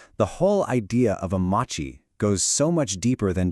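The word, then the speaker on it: 町: And then you've got this one, Machi, pronounced Machi.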